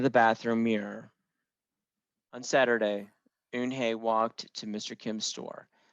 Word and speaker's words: Unhei: he asked her with his eyes open wide oon hey looked quickly at mr kim then turned to joey she nodded slowly yes it's pronounced un hey and it means grace mr kim added joey